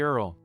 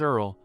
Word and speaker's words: earl: Earl it's pronounced as Earl look at my mouth Earl not ear hey you're really unprofessional